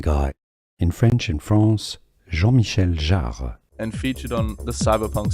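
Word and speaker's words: Jean-Michel Jarre: You are looking at Julian's pronunciation guy in French in France. Jean Michelle Jar and featured on the cyberpunk soundtrack which you are listening to right now.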